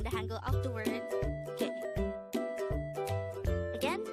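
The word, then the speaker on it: 개: The Korean term for dog is ge. Again, it's ge. This is composed of just one syllable.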